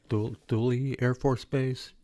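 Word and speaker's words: Thule: Duly I I can't pronounce their name. Douly Air Force Base.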